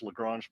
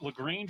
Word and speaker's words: Lagrange: Is it Lagrange or Lagrange? It's Because Lagrange. I think depending upon what part of America or the part of the world you're from, it could be a different pronunciation there. You know, Daryl reminds me all the time it's Lagrange, but if you're from the South, it's probably something else.